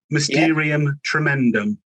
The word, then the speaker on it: Mysterium Tremedum: And in this episode, I'm absolutely delighted to have with me the Captain, the album called Mysterium, Tremedum. Have I pronounced that right, Captain? That's right. Mysterium, Tremedum.